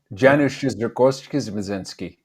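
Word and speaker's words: Janusz Kamiński: used the same cinematographer, I think it's pronounced Janusz Zaremski, the Polish. Yeah, he was he didn't used to. That guy worked with me on Black Hawk Down. That's right, Janusz Zaremski.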